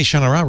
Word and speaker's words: Shannara: I'll say Shannara right, but I'll call it a Shord.